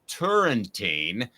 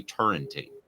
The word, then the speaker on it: Turrentine: conversation category for me turn time by the way is Alan I understand it so if I'm uh mispronouncing let me know along the way but